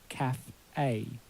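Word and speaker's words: café: Now, as you'll know from the word cafe, cafe is not pronounced cafe, because that E with an accent on it has a particular pronunciation. It's a caf-a. So that cafe E in English and in French is pronounced E. E.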